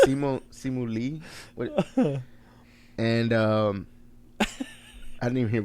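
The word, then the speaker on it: Simu Liu: the main guy the main guy, I don't know how to pronounce his name. It's Simu Lee.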